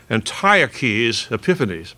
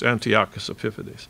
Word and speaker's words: Antiochus Epiphanes: Now, my Western Civ professor was an Aussie, and he pronounced it Antiochus Epiphanes, but no, it's Antiochus Epiphanes.